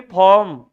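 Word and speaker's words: form: और आईपीवी का पूरा नाम, आईपीवी का पूरा नाम फुल फॉर्म नहीं, फॉर्म। आर क्या होता है? एम से पहले आर साइलेंट रहता है, इसलिए इसको फॉर्म बोलते हैं।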